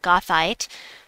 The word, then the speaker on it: Goethite: Want to point out right away that Goethite, I looked up how to pronounce it, Goethite, has double magic and earns twice the score for this event.